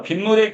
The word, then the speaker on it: 빗물: 자, 그리고 이때 니은이 하나가 덧났네요. 빗물 해서 여기 니은이 덧났기 때문에 우리가 이것을 니은 이렇게 적어주지 않고 표기를 할 때는 이렇게 사이시옷을 적어서 표기를 합니다. 발음과 표기가 지금 다른 거야, 지금.